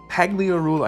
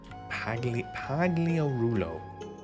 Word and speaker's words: Pagliarulo: It was a day of jubilation in the Pagliarula. I forgot how to say his name for a second. Household when Emil came up with Starborn. Pagliarulo.